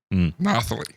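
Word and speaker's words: Nathalie: Like Natalie like Natalie with a Yes. Nathali. Yeah, I don't know how you say that name. Kirsty has uh Yeah, yeah, I think that's probably more accurate.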